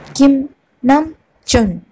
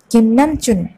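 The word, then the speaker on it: 김남준: ഇനി ഞാൻ പറയുന്ന ഉച്ചാരണത്തിൽ എന്തെങ്കിലും വ്യത്യാസം ഉണ്ടെങ്കിൽ നിങ്ങൾക്ക് താഴെ കമൻറ്റ് ചെയ്യാവുന്നതാണ് കേട്ടോ. അപ്പം നമുക്ക് തുടങ്ങാം. കിം നം ചുൻ, കിം നം ചുൻ, കിം നം ചുൻ, കിം സോക് ചിൻ, കിം സോക്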